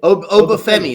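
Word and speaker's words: Oba: the NXT champ um I do I do Obi that's how you say it okay I was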